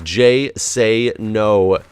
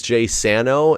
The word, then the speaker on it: JSano19: My name, the way I pronounce my name, is JSano19. 19. So like say no to drugs, say no with the long A.